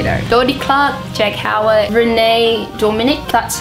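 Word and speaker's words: Renee Dominique: But, you know, Dodie Clark, Jack Howard, Renee Dominic, that's how you pronounce her name.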